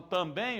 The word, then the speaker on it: também: Pode ver que quando eu falo também, ó, sílaba mais forte é o bem. Eu não falo eu também vou. Não é também, é eu também. A sílaba mais forte é bem.